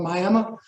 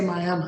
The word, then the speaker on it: Miami: Northeast Oklahoma town called Miami is spelled exactly the same as Miami but we have the Indian tribe with that name and they say Miami so we're right um